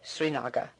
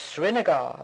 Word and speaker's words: Srinagar: First, we will visit Srinagar, sometimes pronounced Srinagar by Anglo-Saxons.